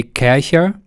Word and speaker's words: Kärcher: way I'm German so in Germany they say cashier and it's a German company but well for this video I will call it Cartier because I think that is how you pronounce it in English and yeah I'm going